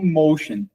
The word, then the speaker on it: Moschen: Tem o Mosquen lá na na Áustria, só que na Áustria eles pronunciam como motion. Ah, porque é mais, não sei se seria alemão, né, a língua que a Áustria fala, mas eles eh eles falam motion e aí na Itália traduzem como mosquem.